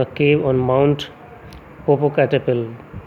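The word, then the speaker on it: Popocatépetl: The black teeth of अ 97-year-old ग्रिमाल्किन living in a cave on mount पोपोकैटेपिल। ठीक है, पोपोकैटेपिल, T silent रहता है, पोपोकैटेपिल, पिटल नहीं बोलोगे, टी साइलेंट किया जाता है।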